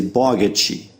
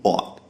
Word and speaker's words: bought: change here's what happened in some words the GH disappeared completely like in the words through and bought okay so you don't say through and you don't say Bachi you totally eliminate those GH sounds through and bought in